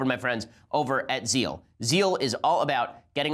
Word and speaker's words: Zeel: First, I want to say thank you to our sponsors over at Zeal.